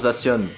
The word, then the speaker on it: Zacian: qui est Zacian, bah qui se prononce Zacian. Bon, lui, y a pas trop de débat au niveau de la prononciation, mais on pouvait légitimement le prononcer Zacian, vu que ça vient de science.